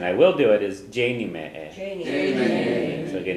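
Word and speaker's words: déanfaidh mé é: And I will do it is Janie me a. So again, you don't pronounce the F in the future. Janie me a.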